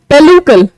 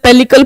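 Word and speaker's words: pellicle: इसको हम कहते हैं पेलुकल। वैसे तो पेलिसल पेलिकल पढ़ते होगे पर इसकी प्रोनाउंसिएशन होती है पेलुकल।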